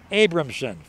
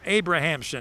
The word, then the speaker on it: Abrahamson: So Bergdorf flies to right, and that brings up Eric Abramson from Barrington, the 6th hitter in the order for Outlaws. Eric Abrahamson is the way he pronounces his name, he tells me.